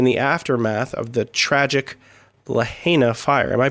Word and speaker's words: Lahaina: in Maui in the aftermath of the tragic Lahaina fire am I pronouncing that correctly it's Lahaina before we get directly to the tragedy we'd